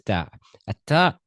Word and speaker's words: ت: How how to pronounce a T clearly? The tip of your tongue. The tip of your tongue touches the arrow just behind the upper front teeth.